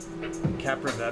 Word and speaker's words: Kapproveb: to know my name captain of is how you say that k-a-p-p-r-o-v-e-b camper of a